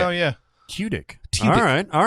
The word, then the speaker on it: Tudyk: Oh, Tudyk. Because he spelled it T-Y. So T-Y, like T-I-C-K. Oh, yeah. Tudyk.